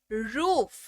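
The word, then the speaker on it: roof: रूम यानी की कमरा आर ओ ओ एफ रूफ यानी की छत रूफ यानी की छत फिर ओ के तौर पर भी उच्चारण होता है कैसे होता है अगर यह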